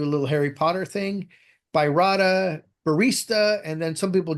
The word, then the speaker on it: baryta: So this these baryta papers are very popular. And yes, the correct pronunciation is baryta. And as you can see on top, I am collecting mispronunciations of the word baryta.